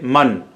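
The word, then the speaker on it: مًا: Esa alif, recordamos, la escribimos pero no la pronunciamos. Únicamente vas a pronunciar man y no man o man. No, se lee man. Es una alif que no se pronuncia pero se escribe por gramática.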